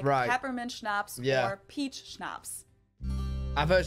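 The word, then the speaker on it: Schnaps: alcohol culture in German we spell it like this and say schnapps always snaps a type of drink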